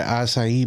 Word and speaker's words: acai: You can go get an acai bowl that's very good. I'm just happy you said SIE right. You know, so many people don't know how to say it. They're like, I'm getting a Kai bowl.